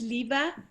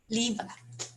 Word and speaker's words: Liva: How is it, Leva or is it Liva? My name is Liva. Leva. If you were to pronounce it in Danish, I've lived in several countries. It's always pronounced differently.